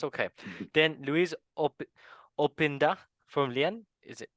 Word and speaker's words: Openda: Then Luis Opinda from Lyon. Is it? How do you Yeah. say it? Yeah, that's Openda.